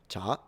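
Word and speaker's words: 茶: first tone second tone tone is the rising tone. Think about it like asking a question.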